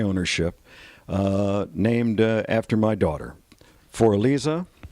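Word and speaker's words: Für Elise: Here, the last slope that was cut during my ownership, named after my daughter, For Elisa. That's the German pronunciation of For Elise, and also the title to one of Ludwig von Beethoven's great symphonies.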